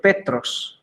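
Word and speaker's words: Πέτρος: Por ejemplo, esto se lee cristón, y esto se lee cristón, ya, y esto se lee Petros, ya, que es Pedro, ya, Petros. Ya, aquí puedo pronunciar Kai, onomate, ya, eso sí pueden pronunciarlo porque yo lo estudié el griego.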